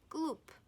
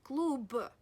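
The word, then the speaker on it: клуб: a voiced consonant but it occurs right at the end of your word that's why you should pronounce it as voiceless you should pronounce it as gloop gloop gloop not Gluba but group another example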